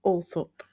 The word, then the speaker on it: Althorp: But the correct pronunciation, according to the attendants at the home, was Althorp.